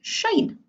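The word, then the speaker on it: sinh: the hyperbolic sine so that's pronounced shan like sunshine so these are hyperbolic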